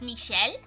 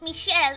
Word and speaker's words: Michel: was a character and in English his name would be Michael but in French you pronounced Michael as Michelle so they would call